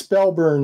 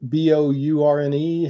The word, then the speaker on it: Spellburn: So it's Spellburn. Is it Bourne? How do you say that? Spellburn. Spellburn. So just Burn. It's all one word.